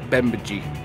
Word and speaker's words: Bemidji: How do you guys pronounce it? Bemidji.